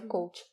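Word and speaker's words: Kvothe: está pensando, é que o nome dele escreve Cavote, né, mas pronuncia coach.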